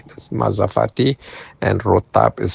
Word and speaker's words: rotab: And rotab is spelled r o t a b.